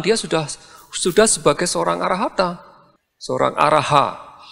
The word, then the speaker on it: arahant: seorang arahata seorang araha seringkiali kita mengatakan arahat gitu ya rahat itu lebih cenderung apa Pengucapan ya dari sanskrit demikian dari bahasa pali kata asal ya kita mengatakan kata asalnya itu adalah arahan jadi arahan a r a h a n t itu arahan atau arahan ta itu jadi